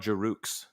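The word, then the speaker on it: Giroux: and they have claude jarooks yeah that guy's also good it's a silent x but i'll pronounce it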